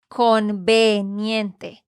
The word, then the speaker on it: conveniente: conveniente conveniente conveniente Sí porque estás tratando de pronunciar esa e más como una I y eso es porque en inglés se dice combinet no con y pero en español es e conveniente ahora di generalizada vamos